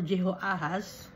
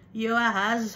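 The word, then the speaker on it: Jehoahaz: land took Yeh or Jehoahas the son of Yoshaya and made him king in his father's place in Jerusalem or Jerusalem. Kasi letter J no ah dapat ang pagpo-pronounce ay letter Y. Yoahaz was 23 years old when he became king.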